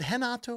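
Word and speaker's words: Renato: moano haato is it henato or h it's spelled re e so the r is an H so I think it's h against of course BSD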